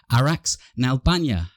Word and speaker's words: Araks Nalbandyan: But welcome to the show, Araks Nalbandyan.